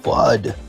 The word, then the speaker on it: FUD: to no food koala it's pronounced fud Mr Tyson the future